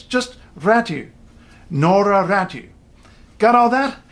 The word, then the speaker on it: Räty: she's in China, and her name in Finnish is said Noora Räty. The funny thing about this one is, if you hear English speakers, English sportscasters say her name, there's a pretty good chance they'll say Räty. The funny thing about that is it's not a double T.